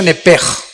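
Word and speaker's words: נֶפֶשׁ: Digo, por favor, esta palabra alma, en el original hebreo, es la palabra nepesh. Apúntala, como suena nepesh, con SH. Se pronuncia nepej.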